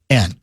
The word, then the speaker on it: Ruohonen: His name is Rich, and I'm probably going to mispronounce it, Ruohonen. It's Ruohonen. And he becomes, he was an alternate, right?